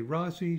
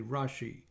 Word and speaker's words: Rasi: And the Rasi, you'll often hear things pronounced with an S sound or an SH. So some people say Rasi, some people say Rashi.